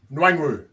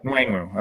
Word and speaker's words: Nwangwu: Kenway Nwaganu? Yeah. Okay. you got that, Gerson. Minnesota, 119th overall. Nwangwu. There we go. Nwangwu.